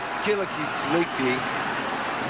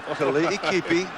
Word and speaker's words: Kali'ikipi: Kali'ikipi, West Kali'ikipi, and that's the right way to say his name, is one heck of a short yardage runner.